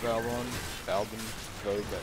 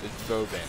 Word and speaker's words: Vauban: I kind of want Valbrun. Vauban, that's how they pronounce it. That's how the guy that makes it in the trailer pronounces it.